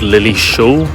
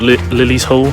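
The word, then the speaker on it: Lilleshall: would appear that this place is actually called Lily Shaw National Sports Center not Lily's Hall like I said earlier which is just another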